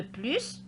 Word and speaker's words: plus: Vous remarquez toujours que le S de plus se prononce.